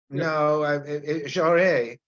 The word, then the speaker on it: Jarry: No, Jarry. I mean, it's how you pronounce it. I mean, the French have their way of pronouncing it.